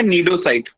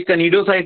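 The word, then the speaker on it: cnidocyte: चलिए, अब एक बड़े इंटरेस्टिंग सेल्स है, आखिरी बता रहा हूँ, सिलेंट्रेट्स के पास, वो है नीडोसाइट, जिसमें ना सी साइलेंट है, तो ये कनीडोसाइट नहीं है, they are नीडोसाइट, C silent.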